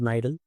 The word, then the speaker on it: Knidal: सो के is silent here which is pronounced S नाइडल।